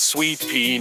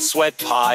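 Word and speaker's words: Sweet Pie: to ruin your day it's sweet pee not sweat pie you duns don't even try not sour pie or sweet fry she'll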